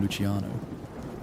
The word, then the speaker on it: Luciano: Lucania became Luciano. The hard O on the end gave it weight, sharpness. Americans could pronounce it.